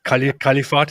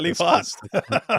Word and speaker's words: Kalifat: Oh, Califat is correct. Califat. Yeah, that's funny.